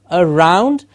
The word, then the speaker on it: around: went around the theater the around becomes sort of around and there's a schwa at the beginning so we will say